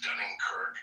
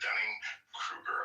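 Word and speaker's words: Dunning–Kruger: and and I like to call it the Dunning Kirk effect.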